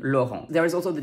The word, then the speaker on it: Laurent: gram i n and we also have on which is spelled here e n in lauren there is also the